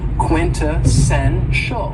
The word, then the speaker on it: quintessential: cool adjective is quintessential and this word has four syllables and the stress is on the third syllable quintessential quintessential and when we say